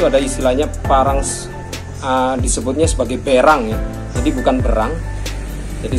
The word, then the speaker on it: berang: Jadi yang betul itu adalah berang.